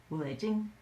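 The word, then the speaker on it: 狐狸精: She called them wulejing. That's how you say it in Cantonese.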